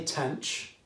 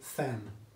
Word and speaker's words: tanh: do you say it right i say tanch some people say fam okay it depends what